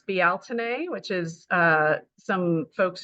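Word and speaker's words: Bealtaine: of Wiccan terms as belain that's actually kind of not the pronunciation because it's it's you know originally out of Irish language betin um it is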